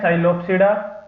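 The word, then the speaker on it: Psilopsida: पहली है साइलोप्सिडा, T silent रहेगा।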